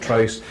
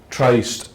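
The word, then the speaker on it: Tryst: is it Tri or is it trist I just formed a established a new Festival in kumut called the kumut tri and already people are arguing about how how to pronounce it is it the coven trist or the COV trist I've always known it as a trist uh so that's a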